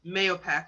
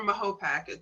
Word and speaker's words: Mahopac: When we think about riots in Peekskill over Paul Robeson showing up, or cross burnings in Mahopac or Mahopac, depending on how you pronounce it.